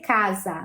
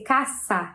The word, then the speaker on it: casa: ss como massa né a gente não tem som de Z em espanhol então por exemplo casa não vai ser casa vai ser caçar caçar Ok e o